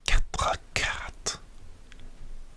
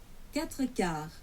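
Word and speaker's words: quatre-quarts: Quatre quarts. Quatre quarts. Okay. Like this, the T in quart is silent. C'est muet.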